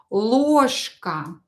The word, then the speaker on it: ложка: You can hear that here ж, I pronounce ж as ша. I say ложка, ложка. Why do I do that? Because ж is located near voiceless consonant. It will become voiceless too. It will become sha.